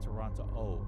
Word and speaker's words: Toronto: You cannot pronounce the last T in the way that it's spelled. So you cannot say Toronto. You just say Toronto O.